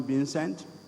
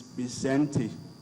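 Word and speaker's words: Vicente: Saints of incentive faults most of us will call him being sent but Richard tells me that and I actually did ask him this morning the correct pronunciation of his first name it is byzanti Fox former president of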